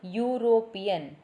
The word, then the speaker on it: European: Sometimes EU also sounds as U, YOU only. Then also we have to write A before the word. So here European, EU. How we are pronouncing it? We are pronouncing it as U only.